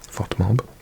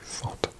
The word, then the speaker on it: FotMob: FOTMOB, FotMob. I keep on pronouncing it FotMob, but it's actually Fot.